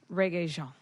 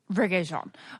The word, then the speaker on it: Rege-Jean: Rege-Jean. Rege-Jean.